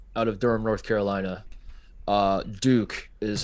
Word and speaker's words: Duke: Duke is how it's pronounced.